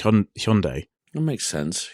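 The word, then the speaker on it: Hyundai: their brand name so traditionally we've always called it hyi and I know in America they pronounce a bit weird and but I think it's supposed to be H Hundai that makes sense H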